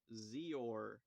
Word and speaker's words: X-Or: was renamed X-OR or Zor. Yeah, the X is pronounced as Z for some reason.